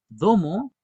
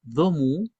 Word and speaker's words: domo: Mujer en Picunche se puede decirse de dos maneras, domo o también domu. Las dos formas son correctas y en el sur también las dos formas son correctas. Uno puede decir domo o domu y en todos lados nos van a entender, ¿ya?